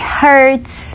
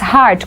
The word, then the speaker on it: hurt: Muita gente pronuncia isso errado. Diz heart, confunde, né, com coração. Então, coração é heart. E aí o verbo, né, machucar, doer é hurt.